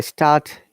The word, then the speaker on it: start: Remember, start, there is R. We don't pronounce it. Start. And dinner, there is R, but dinner. Dinner. Remember that. R is at the end. And British IPA, we do not pronounce R in this case.